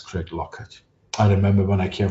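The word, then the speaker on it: Craiglockhart: Craig Lockhart is written Craig Lockhart, but in Scotland we pronounce it as Craig Lockett.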